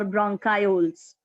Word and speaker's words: bronchioles: So B-R-O-N becomes bronch, C-H-I is key, or you can also pronounce it as chi, so it becomes bronchioles or bronchioles.